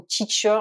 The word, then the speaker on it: teach: On pense évidemment au teacher, le professeur ou la professeure. Ici, attention, le EA se prononce en son I long, teach.